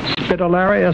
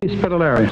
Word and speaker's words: Spitelera: And your name and last name is pronounced Spitelera, is it? Mm. Spitelera.